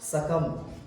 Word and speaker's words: succumb: सकम। SUCCUMB सकम यानी मर जाना।